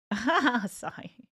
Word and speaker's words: Asahi: He's pronounced like Asai.